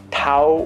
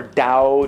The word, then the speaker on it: Tao: This is by Romanos and Magic Tao or Dao, depending on how you like to pronounce it. You could also pronounce it Tao if you wanted to do that, probably.